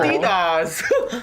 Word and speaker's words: Adidas: like high-profile clients so need to be careful Adidas yeah that's how you say it that's how